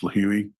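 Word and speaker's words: Lihue: trip from Phoenix to lih which is I believe it's pronounced leui Hawaii on the island of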